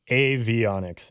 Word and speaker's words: avionics: okay here we go we got the official pronunciation here avionics avionics okay like aviation okay that makes sense